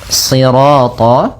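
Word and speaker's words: صراط: Kemudian pada lafal sirat ya kembali lagi di sini shadnya tebal jangan dibaca dengan huruf sin.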